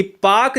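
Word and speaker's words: Palk: ये पाक Jalasandha P एलके को हम पाक कहते हैं। ठीक है ना? इसमें एल साइलेंट होता है।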